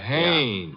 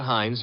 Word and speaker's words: Haynes: Oh, Haynes. Yeah, do you know him? Well, there's a fella named Hines used to fish out here. No, not Hines. Haynes. Couldn't be Huntingburg?